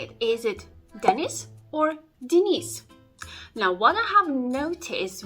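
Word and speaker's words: Денис: the name Dennis and therefore you automatically say Dennis but in Russian language the stress goes on the eye letter of the second syllable and therefore the air letter yam is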